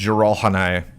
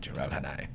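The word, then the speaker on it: Jiralhanae: And then the Jiralhanai, I think they're called.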